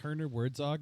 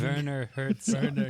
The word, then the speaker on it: Werner Herzog: if Herner Wertzog is available? Because man, that would be amazing. It's Werner Herzog.